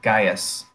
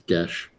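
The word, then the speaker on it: geas: So everybody has been placed upon a kind of psychic Gaius. Gesh? Is that how it's pronounced? Yeah, in Gaelic it's Gesh.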